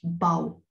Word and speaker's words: bough: hanging on a branch, a bough, pronounced as bow.